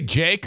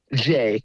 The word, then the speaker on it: Jay: Did you say Jake or Jay? Jay. Okay, I've been calling him Jay. I don't even, like I said. Yeah, you're saying it right.